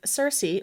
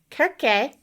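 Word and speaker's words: Circe: if you're familiar with Cersei or kerke if you want to like take out the Seas and replace them with K's Pig lover she also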